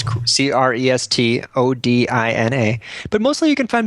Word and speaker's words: Crestodina: My Twitter handle is my last name, Crestodina. Okay. Spelled like it sounds, Crestodina.